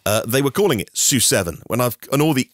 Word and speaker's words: SU7: of blows you away the su7 I think is pronounced sue7 s stands for Speed Ultra and in watching the presentation today uh they were calling it su7 when I've and all